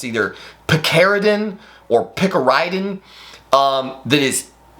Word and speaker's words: picaridin: de definitely and definitely try picaridin or pick a rid in p i c a r uh i d i n I think is how you spell it um it it is